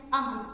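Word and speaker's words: ahem: The first word is A-H-E-M, aham. Yeah, that's how you pronounce it.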